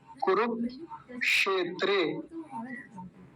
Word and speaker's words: कुरुक्षेत्र: कुरुक्षेत्र ऐसा बनेगा य क्योंकि य जो बीच में क्षेत्र में य आया था यह मैंने कैसे बताया यह कैसे बनता है क आधा और मर्न सकार पूरा इन दोनों से मिलकर बनता है तो क्या बोलेंगे कुरुक्षेत्र कुरुक्षेत्र ऐसा बोलेंगे इसको दो शब्द हो गए